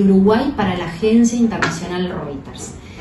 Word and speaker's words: Reuters: Sí, está bien, pero lo pronunciaste bien, Reuters.